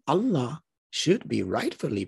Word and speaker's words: Allah: where he said that proper arabic pronunciation of this definite article when it is on the beginning of a word is not al but like e-l so the name allah should be rightfully pronounced